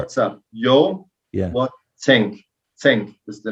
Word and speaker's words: Zenk: Zenk.